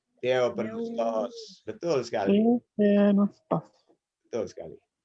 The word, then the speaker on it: Theopneustos: Jadi bacanya Theos, Theo, nggak pakai os. Theo, Theophenustos. Theopneustos.